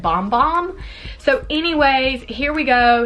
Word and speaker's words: Bum Bum: always want to say bum bum but I got corrected not me personally but I was watching a another Vlog and they were like you know the brand actually pronounces it bomb bomb so anyways here we